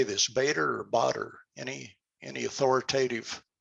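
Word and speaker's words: Baader: Initially, I picked up this, how do you say this, Bader or Botter? Any authoritative pronunciation? I work for a company whose second language is German. It's Botter.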